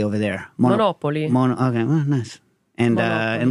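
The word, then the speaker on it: Monopoli: I'll be splitting my time between, how do you pronounce Monopoly over there? Monopoly.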